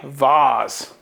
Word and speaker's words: vase: some cool part usage for the vase or as I like to say Vaz and that gets my mom all riled up when I say it like that other than that that's that